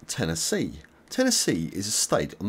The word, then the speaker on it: Tennessee: Carolina and Virginia and you pronounce Tennessee like this 10 NE C Tennessee Tennessee subscribe for more